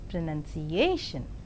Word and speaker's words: pronunciation: In 5-syllabled word pronunciation, the penultimate syllable is more prominent, that is pronunciation.